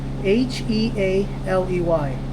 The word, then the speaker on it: Healey: so we're not okay h e a l e y Healey yeah it's not Henley there's no n Healey whatever it is